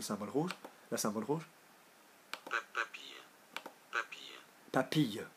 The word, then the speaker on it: papille: Papille. So that gives me papille rather than papi. Because papi is like an old grandpa.